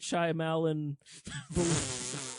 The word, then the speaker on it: Shyamalan: Night Shyamalan that's how I pronounce his name now.